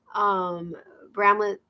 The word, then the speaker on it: Bramlett: Bramlett, say it the way it's spelled and they look at me.